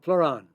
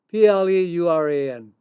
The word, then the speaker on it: pleuran: One is called Pluron. It's a compound that's found in oyster mushrooms. It's spelled P like Peter, L like Leonard, E like, pick something out, URAN, PLEURAN, Pluron.